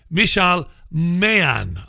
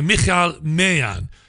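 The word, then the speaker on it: Michal Maayan: broadcaster here's Israeli spokeswoman Michelle man I've probably pronounced that wrong and I apologize for that it's a Michal Mayan she's an Israeli spokeswoman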